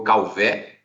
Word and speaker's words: Calvet: Então, ele é francês e aí aportuguesou-se abrindo o E. Então, ficou Calvé, né, como todos conhecem, mas também uns falam Calvé, né? Eu só não gosto muito quando pronunciam o T, que aí eu digo que é sempre um T mudo.